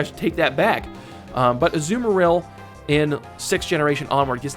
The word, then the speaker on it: Azumarill: And last but not least, you guessed it, Azumarill, or Azumarill as it's actually pronounced.